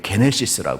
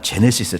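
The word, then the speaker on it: Γένεσις: 책은 창세기 잖 하잖아요 그래서 이게 게네시스 이야기해요 여러분이 좋아하는 제네시스 차가 아니라 예 발음은 뭐 그렇게도 상관없지만 게네시스 하는 게네시스 그런데 그의 어머니 마리아가 요셉과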